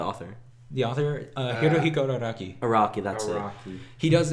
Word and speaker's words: Araki: How do you pronounce his name? Yoshikage Kira, No, like the author. the author, Hirohiko Araki. Araki, that's it.